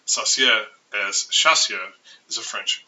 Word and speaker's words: Saussure: It's important to remember the pronunciation of his name, Saussure, as Chassia is a French brown sauce with mushrooms.